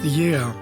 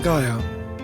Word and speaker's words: Γαία: pronounced “YEA” and not Gaia. (Gaia is a wrong translation) In the Greek language, when the letters “AI” are written together in a word, they are pronounced “E” like the word energy.